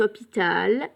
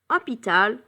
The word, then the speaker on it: hôpital: Cet hôpital est grand. Hôpital, hospital. Hôpital, ça commence avec un H muet. It's a silent H.